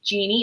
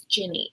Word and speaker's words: Jinni: like throughout the show they keep pronouncing it jeanne and she's like it's Ginny and like like I know